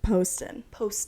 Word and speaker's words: Poston: she told you how to pronounce her last name? Poston.